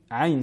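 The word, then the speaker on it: عين: Et enfin la lettre ayn en bleu, dans kaf ha ya ayn sad et ayn sil qaf, qui sont toutes prolongées, qui sont dans les 2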